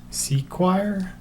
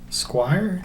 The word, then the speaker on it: SEQURE: Vanquish so this brand forgive me if I pronounce this wrong but I believe it's sequire Squire I'll put the spelling of